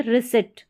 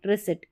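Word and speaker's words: receipt: है प्रोटीन, ये है सीज, और इसको पढ़ेंगे रिसिट। क्या पढ़ेंगे? रिसिट, इस तरीके से। तो यहाँ पर ई आई का उच्चारण बड़ी के रूप में हो रहा है,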